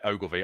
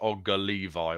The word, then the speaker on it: Ogilvie: think he's ex-chilling and his name connor ogilvie yeah ogilvy i was pronouncing it as olga levi or something in the in the green room and you were laughing